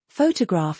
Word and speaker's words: photograph: Photograph has first syllable emphasis. Photographic shifts it to the third.